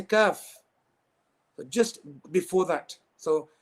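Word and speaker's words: ك: Okay, so where you've got the makhraj of qaf, just before that.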